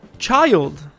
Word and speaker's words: Childe: your pants back up child is his actual name not chilled i thought it was chilled but it's child now surprisingly i actually watched